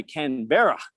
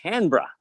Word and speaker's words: Canberra: and well pronounced too most people say canberra it's canberra because australians love to swallow syllables you know too many